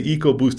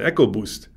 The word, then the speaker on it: EcoBoost: barth i've heard people i heard people say ecoboost and echo boost yeah or eco sport